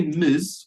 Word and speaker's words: Ms: Ms Brown okay now Gabriella if I say Miz what does that mean Miz both yeah and the pronunciation guys like M yeah okay and it